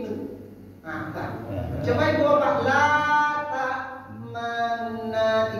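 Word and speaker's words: لا تأمنا: La ta'manna. Lihat ada rambut. Ya. 3 4. La ta'manna. Tuhan. 2 itu cara baca Islam. Pertama, monyongkan bibir. Yang kedua, bunyikan sepertiga bunyinya.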